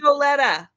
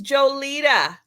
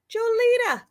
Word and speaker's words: Jolita: Joletta is not Joletta. No, she's not. She's Jolita. Jolita.